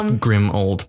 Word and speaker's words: Grimmauld: It's Grimmauld Place, basically.